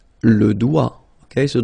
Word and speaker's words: doigt: Le doigt, le doigt, okay, so don't be frightened by this G because basically you don't pronounce it and then the final T you don't pronounce it. So the only thing you get to pronounce is this combination of three word or letters, sorry, here, D, O, I. Okay, O-I, it's wa, and then D, doigt, that's the only thing, doigt, le doigt, okay.